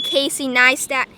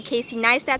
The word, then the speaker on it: Casey Neistat: YouTubers and I was accidentally calling Casey niat Casey nayat uh you guys actually told me Casey neat so thanks for that so I was actually pronouncing his